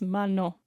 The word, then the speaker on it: Mano: Her name is Mano.